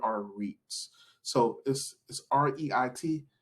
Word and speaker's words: REIT: about is what are REITs so this is Reit it's pronounced Reit and Reit is a real estate